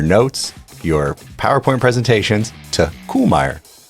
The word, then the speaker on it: Kuhlmeier: Go update your case books, your notes, your PowerPoint presentations to Koolmmy. Yeah. Uh my mind is still blown that I've been mispronouncing it.